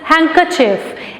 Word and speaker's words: handkerchief: Number 6 is handkerchief. H-A-N-D-K-E-R-C-H-I-E-F. Handkerchief. In this word, D is silent.